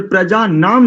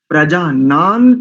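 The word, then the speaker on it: प्रजानन्: और प्रजा नाम नहीं करेंगे, संहिता में प्रजानान तन में प्रजानान ऐसा उच्चारण करेंगे।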